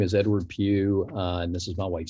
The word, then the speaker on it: Pugh: my name is edward pugh and this is my wife cynthia pugh e-d-w-a-r-d and her name is spelled cynthia c-y-n-t-h-i-a and last name is pew p-u-g-h uh i just put